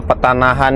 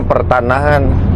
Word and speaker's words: Petanahan: Kalau petanahan itu artinya apa ya? Itu bahasa Jawa atau bahasa apa? Petanahan. Saya kira tadi bacanya pertanahan. Eh, rupanya enggak ada R-nya.